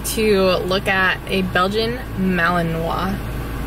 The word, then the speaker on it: Malinois: All right, Ryan and I are going to look at a Belgian Malinois. Malinois. How do you say it? We've basically heard it Malinois or Malinois or Belgian Shepherd.